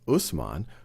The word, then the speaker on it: Uthman: He's succeeded by Umar, sometimes pronounced as Omar, who then is assassinated, who is succeeded by Uthman, sometimes pronounced as Usman, who is then assassinated, and then Ali takes power.